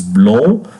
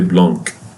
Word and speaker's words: blanc: pay attention, this is blanc, and this one is bleu, blanc. And don't pronounce the C, don't say blanc or blank.